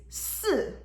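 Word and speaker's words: 是: In Chinese, the pronunciation for the for is, am, or are is si. So it almost sounds like the number 4.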